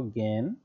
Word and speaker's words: জ্ঞান: দেখো, জ্ঞান, তারপরে বিজ্ঞান। আচ্ছা, এখন এখানে একটা জিনিস খেয়াল করো, উচ্চারণে আমরা অবশ্য সেটি পড়েছি যে জ্ঞান এ শুরুতে যদি বর্গীয় জ্ঞ থাকে, তার উচ্চারণটা এমন হয় গ চন্দ্রবিন্দু জফলা, আর যদি মাঝখানে এবং